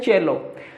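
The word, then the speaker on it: cello: सेलो ऐसे इसका प्रोनाउंसिएशन होता है चेलो।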